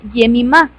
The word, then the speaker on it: Jemima: en español sin embargo es un nombre muy antiguo que en realidad se pronuncia jemima que significa cálido afectuoso